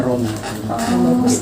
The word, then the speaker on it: Rama: Aslinya Rama, dibacanya Romo.